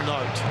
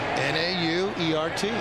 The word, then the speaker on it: Nauert: Is that how you pronounce that ump's name? I don't believe I know Paul Nart. It's Nauert? Newert. Nauert. N-A-U-E-R-T.